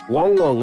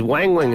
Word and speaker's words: Wang Wang: Wong and fony yeah I thought it was always Wang Wang and FY no why has everyone said Wang Wang that's how it's spelled so we've been getting it Wong Wong Wong you are wrong